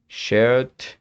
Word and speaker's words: shared: Pero lo que te he dicho acerca de la pronunciación se mantiene. Shared, ok. Used, bien. Saved, loved, moved. Es decir, mientras no tengamos al final una T o una D, siempre se va a omitir la pronunciación de la E final.